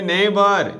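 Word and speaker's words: neighbour: এটার প্রোনাউন্সিয়েশন হবে নেইবার, NEIGH, নেইবার।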